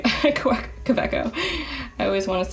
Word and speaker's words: Kaweco: Kaweco. I always want to say, pronounce the W, I think, too hard, but since it's German, I believe it is like a more of a V sound. Kaweco.